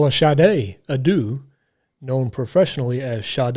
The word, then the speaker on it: Sade: be first and I'm GNA go with some shade shade yeah is that how you say it